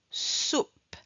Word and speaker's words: soupe: Soupe soupe. On ne prononce pas le e.